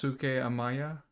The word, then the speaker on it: Daisuke Amaya: it's Daisuke Amaya. what is it? Dai, Oh yeah, Yeah. Graham could Dais- probably pronounce it better.